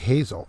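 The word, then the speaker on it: Haslet: sanitizer love your show my hometown is pronounced like hazel ah all right just west of fort worth hazel got it all right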